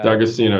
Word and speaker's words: D'Agostino: It's the guy's popular on Twitter, Dom Agostino, I think, from University of Florida, or one of the D'Agostino, yeah. D'Agostino, yeah.